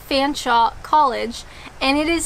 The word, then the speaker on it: Featherstonehaugh: I know, in Ontario, we actually have a college called Fanshawe College, and it is spelled as one might suggest, Fanshawe. You're telling me that Featherstonehaugh is also Fanshawe. You guys know that's not right.